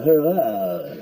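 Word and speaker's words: Huayra: It's called the Hurrah. It is. It's spelt H-U-A-Y-R-A.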